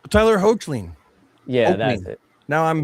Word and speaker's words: Hoechlin: Tyler Hoechlin.